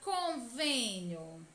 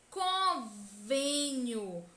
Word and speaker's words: convênio: na palavra cor veninho o acento circunflexo indica que a penúltima sílaba é a sílaba tônica é a sílaba mais intensa e mostra também que a pronúncia desta sílaba deve ser fechada com sol para dentro convênio com venho mostra